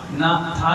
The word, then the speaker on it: नाथ: नाथ, ना था के बाद एक लकीर है, वो आ का उच्चारण होता है बड़ा, तो नाथ।